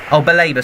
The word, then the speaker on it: Baleba: I can take this for Brungen, Lamptey, Webster, Dahu, Lallana, Welbeck, Baleba, how do you pronounce his name? Baleba, sorry, is on it.